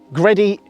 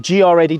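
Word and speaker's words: GReddy: Coming around the back of the car, we've got the Gredi, or GR Eddy, depends on how you pronounce it.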